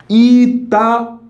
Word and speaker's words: Itaú: Mas olha, note que esse U não é fraco, ele é muito forte. Inclusive é a sílaba tônica. Itaú. Isso aqui é forte, bastante forte.